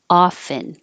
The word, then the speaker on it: often: Most common is no T, often. So make sure you open a lot.